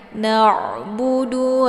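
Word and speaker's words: نعبد: Na'budu, ini juga ainnya dialirkan, jangan na ya. Kalau na berarti yang sukun di sini bukan huruf ain namun huruf hamzah. Kalau na itu ain ya. Na'budu wa ini juga sama cara bacanya.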